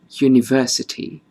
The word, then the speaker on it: university: And then we have a slightly different example when we say a university. Although the spelling starts with the vowel u, the yu sound of the word uni is dominant.